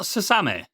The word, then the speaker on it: Suzume: I think it centers around a young girl called Suzume. That's the best way I'm going to pronounce it. She's a Is 17. it not Suzume?